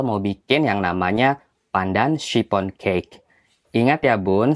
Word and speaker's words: chiffon: bikin yang namanya pandan chiffon cake ingat ya bunds pengucapannya harus pake sin-sin besar yang ada titiknya tiga jangan sampai ngucapinnya cuma biasa aja kaya Sipon apalagi Sipon pakai sound itu salah bun karena itu akan mempengaruhi